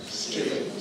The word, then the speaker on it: street: And then the word street. Difficult. And it's of course not street. Street. Street. Okay. Just one syllable street.